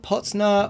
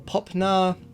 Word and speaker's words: potna: It's kind of like pot and then like a glottal stop, na, but it could also be like potna or popna.